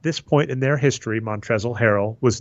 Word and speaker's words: Montrezl: to see and I do think it's montrezl harrell with the silent L at the end of 100 sure we'll